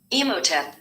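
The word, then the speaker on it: Imhotep: First, I'm going to get the name pronounced right. So we're going to get this name pronounced right. Emotep.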